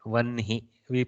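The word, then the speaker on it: वह्नि: Vanhi. We pronounce it Vanhi, but we write it Vahni. Yeah.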